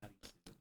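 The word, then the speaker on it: アリス: The name Arisu, the phonetic pronunciation of Alice Right.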